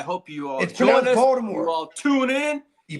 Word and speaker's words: Baltimore: Baltimore. You all tune in. You pronounce it Join Baltimore. the fun. It's pronounced Baltimore. Baltimore Ravens. Baltimore. There you go.